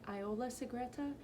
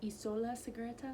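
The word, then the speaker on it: Isola Segreta: scipio went to the i was pronouncing it iola cigreta but apparently it's isola cigreta sorry i don't speak italian i'm really trying my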